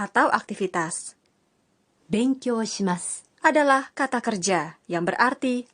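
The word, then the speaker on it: ます: atau saya bisa dihilangkan huruf vokal u-disk u dalam tulisan Mask diucapkan dengan senyap Jadi terdengar Mask Sekarang kita coba pengucapannya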